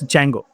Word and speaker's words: Django: It means Django. So the pronunciation of this is Django.